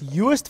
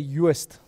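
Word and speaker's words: Joost: It's Juist van der Westhuizen. That's how we would pronounce it, at least in Afrikaans.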